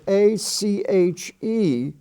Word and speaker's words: ache: And at the bottom of that column, we have the word ACHE, which is pronounced ache, as I have an ache in my back.